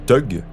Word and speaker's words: thug: Dans la langue indienne, le U se prononce ou alors on va les appeler les t.